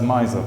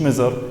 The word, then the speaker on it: miser: This is pronounced as miser. مش miser.